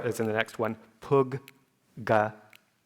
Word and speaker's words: puggala: Or as in the next one, puggala. Puggala. You can think of it as pronouncing that consonant twice.